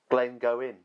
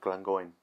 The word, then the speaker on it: Glengoyne: okay going going or as some people pronounce Glenn go in making the wise I like an AI or Glenn gone I prefer the pronunciation of Glenn going unhurried since 1833 you